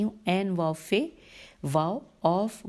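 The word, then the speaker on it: عوف: بنی ثعلبہ کے اوف و معقل نے، اب ہجے کرتی ہوں، عین واو فے واو اوف و میم عین قاف لام نے ان کی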